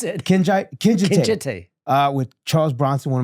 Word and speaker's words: Kinjite: Kinjite. Kinjite. That's how they pronounce it. Kinjite.